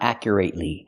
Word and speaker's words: accurately: First, pronunciation. It's not accurately. It's accurate. Accurately. We cannot use the long A and say accurately. We have to use the short sound, accurate, accurately. And keep watching until the